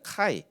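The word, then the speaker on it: chi: 이제 잘못 읽게 되면 아 px구나 px라고는 잘못인데 PX 이제 군대에서 매점이 이제 px고요 px가 아닙니다 전혀 다른 표시인데 아 이게 뭐라고 읽어야 되냐면요 이게 그 헬라어입니다 그리스어인데 이게 대문자로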